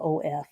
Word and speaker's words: of: of of I know in the word of you hear a v sound but it's spelled o f of in the word pin